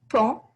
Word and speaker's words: paon: d'avis fier comme un noter la prononciation ici camp qui veut dire peacock